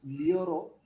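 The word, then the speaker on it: llorar: Lioro. Lioras. Liora. Lioramos. Liorais. Lioran. Double L is pronounced as Leo.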